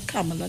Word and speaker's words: Kamala: You have to pronounce her Kamala different, you know.